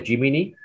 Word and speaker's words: Gemini: they call it uh is it pronounced as jiminy g e m i n i gemini gemini gemini yeah okay i